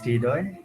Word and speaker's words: Hridoy: Hi, my name is Hridoy.